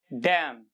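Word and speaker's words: damn: Rule यही कहता है कि एम के बाद एन यूजुअली साइलेंट रहता है।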